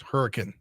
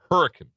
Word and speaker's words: Hurricane: hockey team hurricane it's hurricane hurricane yes so you you you slur it almost yes uh and and don't uh don't put any emphasis on that last e Kansas a bunch of